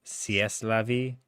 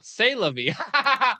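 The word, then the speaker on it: c'est la vie: I just think it's funny that you just pronounced that as sieste la vie. Yeah. As opposed to what you've been saying the whole time. Oh, say la vie.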